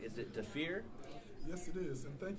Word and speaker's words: Dhafir: It is Dafir. Dafir. Yes, that's DHAFIR. But you know, a lot of individuals couldn't actually pronounce it correctly.